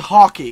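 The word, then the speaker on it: Häkke: in the destiny forums it is pronounced hockey kind of like hockey but like hockey ok ok you know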